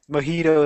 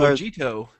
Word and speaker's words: mojito: I know, but it's like it's Spanish. So Mojito. It's like Vegeta, but Mojito.